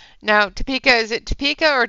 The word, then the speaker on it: Topeka: to do that anymore Zoe just saying now Topeka is it Topeka or toeka just to make sure so I can actually